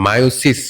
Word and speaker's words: মিয়োসিস: গেছে এবং এইবার আমরা মায়োসিস কোষ বিভাজন নিয়ে আলোচনা করব। ঠিক আছে, তোমাদের বইয়ে এটার বাংলা দেওয়া আছে মিওসিস, এটাকে তুমি মায়োসিস এমনও উচ্চারণ করতে পারো।